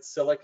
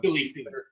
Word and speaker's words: Silly C: Today's guest chef is the one, the only, also, also, do you pronounce it Silic? Is that your? Silly C. As in Silly, Silly C.